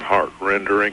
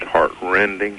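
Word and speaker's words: heart-rending: tell it fool it it's not heart rendering it's heart rending Eastern say mm-hmm sir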